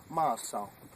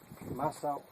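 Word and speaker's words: Maasaw: And his Hopi name is pronounced Maasao. Maasao is the pronunciation. Maasao in Hopi.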